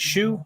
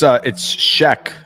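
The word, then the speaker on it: Shough: Is it Shoe? Is that right? It's Sheck, actually.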